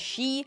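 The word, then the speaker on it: し: not entirely correct because four is usually pronounced as she and nine is pronounced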